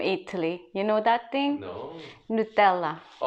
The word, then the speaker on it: Nutella: you know that thing nutella you pronounce it like a british man now nutella it's english in italian originally yeah we pronounce it no tella also in thailand they